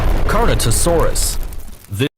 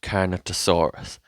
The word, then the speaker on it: Carnotaurus: terapod dinosaur there is number seven catosaurus ah yes I'm such a big fan fan of Carnotaurus one of my favorite dinosaurs Carnotaurus the the text is literally right there how can you not pronounce it this dinosaur of medium